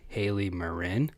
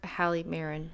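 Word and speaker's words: Hali Marin: instagram i'm at presley grooms and she's at hayley marin h-a-l-i-m-a-r-i-n yep or hallie marin that's how other people pronounce it that's wrong so find us both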